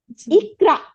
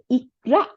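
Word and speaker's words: اقْرَأْ: আমাদের লেখা তাই না ইকরা ইকরা বানানটা খেয়াল করেন তাই না এই যে আলিফের নিচে জের এই আলিফটা কিন্তু আলিফ না আমরা বলবো হামজাতুল ওয়াসাল হামজাতুল ওয়াসাল ওয়াও সদের উপর জবর লাম মানে আমরা বাংলায় যদি লিখছি ও সি স এর আকার ল ওয়াসাল হামজাতুল ওয়াসাল হামজাতুল ওয়াসাল জের হ্যাঁ জের দিছি তাইলে ই উচ্চারণ হইছে ই তারপর কফের উপরে সুকুন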